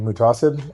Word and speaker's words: Muhtaseb: My name is Mutasid.